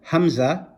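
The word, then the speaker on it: ء: Then you have the hamza, which is pronounced very similar to the alif when they have zabar, zir or pesh on it, and we'll talk about that in a different lesson.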